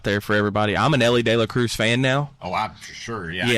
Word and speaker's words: Elly De La Cruz: got to watch um uh how do you pronounce his name? This this new phenomenon like talent that's in Cincinnati? Elly Elly De La Cruz. Yeah, Elly De La Cruz.